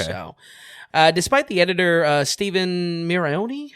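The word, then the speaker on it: Stephen Mirrione: So, despite the editor Stephen Mirioni, how do you pronounce it? Mirione.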